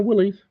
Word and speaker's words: Willys: I bet you he pronounces it funny. No, Willys.